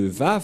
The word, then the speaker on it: Vav: J'espère que vous voyez bien maintenant que la prononciation de Vav, c'est V. Voilà le Vav. Le phonème de ceci, lorsque on prononce avec votre bouche et votre langue, c'est V d'après Wikipédia. C'est-à-dire, personne ne peut contester le Vav, c'est bien un V, la bonne prononciation.